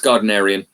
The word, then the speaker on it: Gardnerian: I actually got contacted by the how do they pronounce it? Is it Garden? It's Gerald Gardner, the witchcraft, the pagan Gardnerian. What is the word they use? It's Gardnerian. Gardnerian witchcraft.